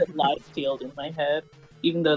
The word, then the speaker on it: Liefeld: according to the pronunciation guide, it is in fact Liefeld.